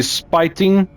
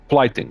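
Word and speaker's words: flyting: And as for the spiting, I don't think that's how it's pronounced. How you say that again? Where is it again? Flighting, sorry, flighting.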